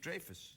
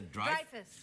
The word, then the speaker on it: Dreyfus: my name Julia Louie Dreyfus it's not Dreyfus where is it the Dreyfus Dreyfus yeah like drive a car but Dreyfus Oh Dreyfus really welcome